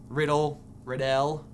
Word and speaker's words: Riddell: That's Thomas Riddell. Pronounced Riddell.